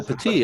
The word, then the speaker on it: Petit: p-i-p-e-t-i-t is it pronounced pettit no a good point actually i was corrected by one of his descendants it's because he's french canadian fatigue oh petite okay okay i was